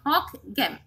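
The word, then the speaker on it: Hocquenghem: So it's a pronunciation like hawk game, ঠিক আছে?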